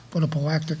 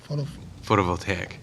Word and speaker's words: photovoltaic: accept the Board of Selectmen large-scale ground-mounted solar photovoltaic facility policy. So moved. Second. Second. How do you say that? Photovoltaic.